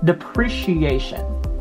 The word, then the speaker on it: depreciation: video tutorial on facebook pronounce this as depreciation depreciation and that's wrong you say depreciation so the accent is on the second syllable depreciation depreciation amortization amortization